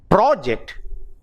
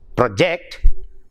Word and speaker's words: project: That is, project, when you stress on the first syllable, it is either a noun or an adjective, and if it is stressed on the second syllable, project, the word functions as a verb.